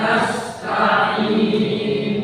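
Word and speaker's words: نَسْتَعِينُ: udu kemudian wa iaka nast wa iyaka nastain kita belajar huruf Sin kanasas nasta' nastain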